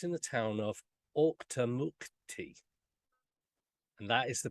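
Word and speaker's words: Auchtermuchty: that now but it's in the town of octonauty and that is the pronunciation I did check that out before I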